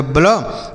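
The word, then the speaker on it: blow: तो बी से पढ़ेंगे आधा ब। क्यों? क्योंकि बी और एल एक साथ है। तो दो अक्षर एक साथ आएगा। तो पहले वाले को आधा लिखा करेंगे। ठीक है? तो यह हो गया ब्ल। और ओ डब्ल्यू का उच्चारण होता है ओ की मात्रा।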